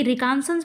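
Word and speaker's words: reconnaissance: क्योंकि रिकॉन्शनंस पढ़ा जाता है। इसमें बहुत सारे वर्ड साइलेंट हैं। ओ की जगह पे ए का प्रोनाउंसिएशन किया जाता है।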